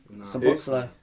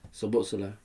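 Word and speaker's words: Szoboszlai: How do you pronounce it? Sabotzlai. Sabotzlai. So who? Sabotzlai.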